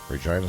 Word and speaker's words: Regina: we're probably more famous for our city rhyming with the word vagina regina saskatchewan we get our